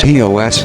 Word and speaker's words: Chios: Chios, pronounced Hee-os, is the fifth largest Greek island, located in the northern Aegean Sea, very close to the Turkish coast.